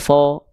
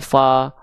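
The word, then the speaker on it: ف: Berarti huruf fa itu termasuk ke dalam huruf yang tipis karena dibacanya fa bukan fo ya.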